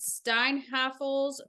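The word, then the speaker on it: Steinhafels: So Weir and Geyser were apprehended near Interstate 94 at Steinhaffel's furniture store. After they walked is that not how you say it?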